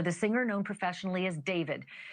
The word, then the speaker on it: D4vd: That fact has got to be hitting home tonight, literally, for the singer known professionally as David, spelled D4vd. I know it's strange, but it's pronounced David.